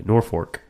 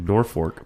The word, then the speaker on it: Norfolk: is a Norfork Roy Norfork they call it it's spell Norfolk Nebraska everyone there pronounces it Norfork because AIG Al this